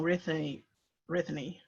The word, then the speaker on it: Rithinay: if you can, if I say it wrong Ruthie Brittany. Rithinay, MPS: A risky.